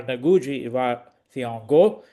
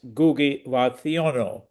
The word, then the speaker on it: Ngugi wa Thiong'o: So the other pronunciations of his name are Ngugi wa Thiong'o, and I'm told that perhaps the best pronunciation, or the most reliable one, is Ngugi wa Thiong'o. Um, I'm going to refer